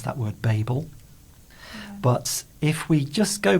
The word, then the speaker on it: Babel: as those so this is the British one Babel Babel and then Babel that's the American but then there's also Babel Babel okay yeah so we can now I